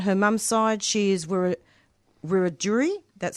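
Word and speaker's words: Wiradjuri: On her mom's side, she is Wur Rajuri. That's spelled W I R A D J U R I.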